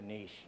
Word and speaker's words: niche: Or if you're Canadian, it's a niche. A niche, that's right. A niche or a niche, you know, it's spelled the same way either way.